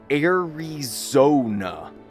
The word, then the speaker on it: Airona: It's pronounced Arizona. Like Arizona, but with a N at the end. Arizona is pronounced Arizona, the same as the state of Arizona. It is not pronounced Arizona or Arizona, and the Z sound is pronounced like the Z in zone.